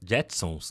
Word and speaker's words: Jetsons: O Json, Jack, Jetsons, né? A pronúncia correta.